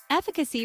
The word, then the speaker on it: efficacy: and eccentric style efficacy refers to the ability to produce a desired result often in medicine or treatments pronounced fi CI with stress on the first syllable use efficacy to discuss